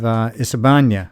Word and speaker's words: Isebania: And we have Isebania. Now Isebania, it's ISI for the first three letters. You might see in videos it's ISE, same pronunciation.